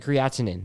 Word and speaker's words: creatinine: creatine i think it's creatine with an in afterwards creatine i think it's correct creatinine that's how you say it creation yeah uh